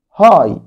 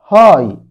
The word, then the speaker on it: high: high high عالي H-I-G-H H-I-G-H G-H silent لا تنطق.